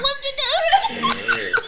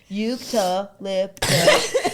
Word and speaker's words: eucalyptus: Eucalyptus. No. Fuck it. Yuca? Yes. Lip? Yeah. Tickus. No. No. Tuss. Just tuss.